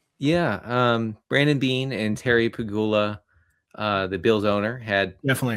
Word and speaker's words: Pegula: Yeah, Brandon Beane and Terry Pegula, the Bills' owner, had definitely how you say it.